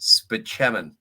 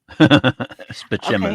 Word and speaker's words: Spaceman: I have a doctor named Spaceman, but it's pronounced Spachemin. Spachemin.